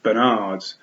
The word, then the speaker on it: Bernard: Bernards, pronounced Bernard with the emphasis on nard.